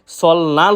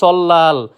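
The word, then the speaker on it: 설날: এরপর রয়েছে সল্লাল। আমরা এটাকে প্রায় সময় সলনাল উচ্চারিত করে থাকি, যেটা সম্পূর্ণরূপে ভুল। সঠিক উচ্চারণ সল্লাল, যার অর্থ নববর্ষ।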